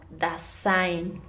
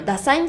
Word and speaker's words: Dasein: también del siglo XX, quien habla del concepto Dasein. Se los voy a deletrear. D-A-S-E-I-N. Dasein. Bueno, Dasein, así se pronunciaría en inglés, pero es Dasein.